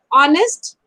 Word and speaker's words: honest: words mhm yes H the poor H comes in all four words but alas their pronunciation is not heard we are pronouncing from